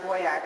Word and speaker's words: VOIAC: Illegal Alien Crime Archive, which is pronounced VOIAC, it's V-O-I-A-C. We the people and the